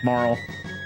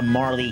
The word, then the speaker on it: Marle: I'm I was a Marley kid. You couldn't tell me otherwise until I was an adult and the internet became a thing. I was like, "That's how you pronounce it?"